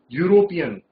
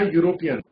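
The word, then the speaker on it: European: पे नहीं बन रही, इसकी ध्वनि यू पे बन रही है यूरोपियन।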